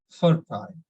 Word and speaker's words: fertile: And then we have some other, like when a word ends in ILE, stress the syllable before ILE ending. So it's like we need to stress on fur. So it's like fertile.